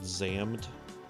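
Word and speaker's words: Xam'd: Anyway, yeah, Boom Boom Satellites, I first heard them from an anime opening from an anime called Zammed, which is spelled like X apostrophe AMD wasn't actually a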